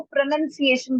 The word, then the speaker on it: pronunciation: प्रमोद, उसका जो वर्ड का आ, असली तरीके से जैसे बोलते हैं उसको प्रोनंसिएशन बोलते हैं, प्रोनंसिएशन। और प्रोनंसिएशन का मतलब होता है उच्चारण।